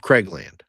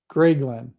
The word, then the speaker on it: Grayglen: Of Craigland. Grayglen. Can you spell that, please? Gray, Gray, and then Glen, Glen. Grayglen.